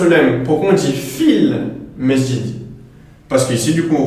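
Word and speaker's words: في المسجد: Donc ici, on dira fil masjid. Fil masjid. Donc on ne dira pas fi al masjid. Pourquoi? Parce que la hamzatul wasl ici se retrouve en milieu de phrase.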